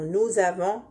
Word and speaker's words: nous avons: en elles en ici il y a une liaison entre le s et la première lettre du verbe avoir.